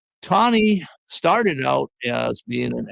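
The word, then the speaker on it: Taney: Tonnie Tonnie is I It took me a while to get that correct pronunciation.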